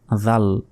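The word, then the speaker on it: جوع: হবে বলতে হবে জু শেষে আইনের উচ্চারণ হবে হাতে এক সেকেন্ড মানাহুম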